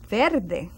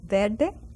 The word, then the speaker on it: verde: color green verde Verde now in Puerto Rico you may not hear the pronunciation of the r and probably as well as in Cuba we speak very fast and we say Verde Verde it is ver or even you can